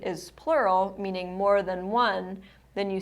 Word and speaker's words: ho: So you don't say ho, you say O.